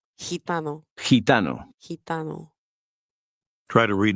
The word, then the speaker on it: gitano: The combination GI is pronounced in a similar way. Read word 13. Gitano. Gitano.